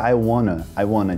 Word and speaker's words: I wanna: Mas a gente vê muitas vezes esse I want to, mas né, com a pronúncia I wanna, tipo, international, internet, com esse T cortado.